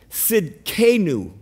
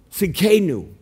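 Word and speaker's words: Tsidkenu: the word here is jehovah and the t is silent it's sid kenu see kenu and it means righteousness it's peter uses it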